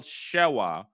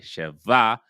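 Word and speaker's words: שווא: And that is we have the wow and it has a vocal shaah underneath. That is sha. Some people might say cheva.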